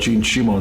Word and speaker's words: Simmons: introduced myself I say Shimon this the Japanese pronounced my Simmons as Shimon so don't think he